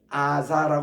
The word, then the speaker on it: 가자: 그래서 여기서 가사라는 것은이 사가 아니고 자거든요 가자 가자데코 보겠습니다 그래서